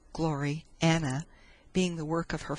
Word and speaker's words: Gloriana: Gloriana, pronounced as two words, Glory Anna, being the work of